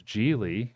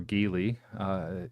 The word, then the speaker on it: Geely: Because Geely, or Geely, whichever you want to pronounce it as, is a Chinese company.